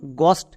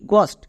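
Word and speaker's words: ghost: এনই এসটি অনেস্ট আমরা কিন্তু এই ওয়ার্ডকে হনেস্ট উচ্চারণ করবো না আরো একটি এক্সাম্পল দেখ যেমন গস্ট এখানেও দেখ এইচ এর পরে ও আছে এখানেও এইচ সাইলেন্ট যেমন জি এইচ ও এসটি টি গস্ট একই রকম হবে।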